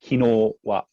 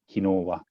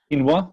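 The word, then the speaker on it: 昨日は: It's got to be pronounced kinowa, kinowa. Otherwise, it sounds like quinoa, which is something you can eat.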